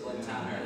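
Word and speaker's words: Glen Tanar: this wrong Glen Tanner I don't say tan is I say Glen Tanner I said it right and um it's the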